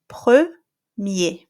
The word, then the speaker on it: premier: Now, let's say that you have em or en followed by a vowel. In that case, the nasal sound is cancelled. Okay, so for example, here I have premier. So I'm going to pronounce the E like E, E. So you have the sound here, right here. Premier.